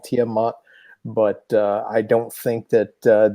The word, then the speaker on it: Tiamat: close uh i think i think it's actually pronounced by the by the the ancient babylonian types uh tiamat but hey i don't